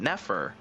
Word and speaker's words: Nefer: I just say her name the way you're supposed to say it, Nefer.